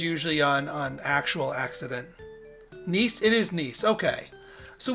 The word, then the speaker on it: Nice: educated american i do when i do print mispronounced things it is usually on an actual accident nice it is nice okay so we'll be going